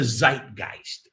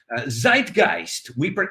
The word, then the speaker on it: Zeitgeist: Zeitgeist, I don't know if we pronounce it correctly in German. I'm telling you how we pronounce it in American English.